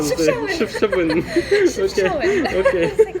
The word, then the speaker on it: Chefchaouen: Oui, oui, la prononciation c'est correct. Chefchaouen, Chefchaouen.